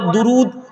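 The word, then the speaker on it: درود: তাহলে উচ্চারণ কোনো এক হলে খিচুড়ি, উচ্চারণ এক হলে, হ্যাঁ আমরা বলি না দরুদ শরীফ পড়ি না? উর্দুতে বলে দুরুদ, বাংলাতে বলি দরুদ, আরবিতে বলে দারুদ, পড়ি না?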